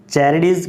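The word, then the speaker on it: Charybdis: ये जो बी है ये साइलेंट होता है, क्या बोल सकते हैं, चैरिडीज। और इसे बोल सकते हैं सैला, और एस इसमें साइलेंट है, इसमें बी साइलेंट है, ठीक है।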